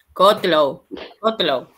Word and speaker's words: Kotlow: ¿Cómo se pronuncia? Ahí te digo. Kotlow.